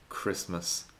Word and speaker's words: Christmas: Lo más común es pronunciarlo así, como ch, pero luego tenemos otras palabras donde la CH se pronuncia como si fuera una K. Stomach, ache, Christmas, chaos.